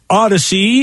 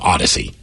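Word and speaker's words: Audacy: know we see so we spell it a-u-d-a-c-y because not only we take you on a great odyssey but it's audio so it's odd to see see how we did that audio part audacious part odyssey wait a second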